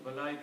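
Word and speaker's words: ملائكة: Pronounce long. Just like Malaika also.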